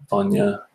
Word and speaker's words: Bhainne: Allt-a-Bhainne, Vanya, Allt-a-Bhainne. Okay, that makes sense.